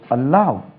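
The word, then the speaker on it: allow: ஏ எல் எல் ஓட அலவ் உச்சரிப்பை கவனம் அலவ் அலவுட் ஏ எல்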